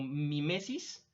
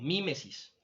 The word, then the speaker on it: mímesis: A ese primer proceso se le conoce como mimesis o mímesis, dependiendo cómo lo traduzcan o lo quieran pronunciar.